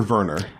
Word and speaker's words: Werner: Someone said that are going to have, is it Werner or Werner? I mean, I think it's Werner. He's German, so it's like Werner, how they say it.